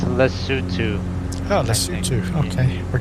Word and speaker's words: Lesotho: tomorrow we're flying this leftovers tomorrow it's actually pronounced in lesotho oh let's see okay we're going there as